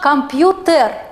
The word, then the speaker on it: компьютер: еще твердая или мягко как сказать правильно компьютер или компьютер термин или термин вот мы открываем орфоэпический словарь и там четко нам дано да конечно компьютер что касается грамматической нормой